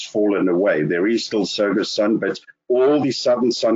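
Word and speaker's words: Tsogo Sun: some branding has fallen away there is still sega sun but all the southern sun hotels or soga suns as we pronounce it is not just going to be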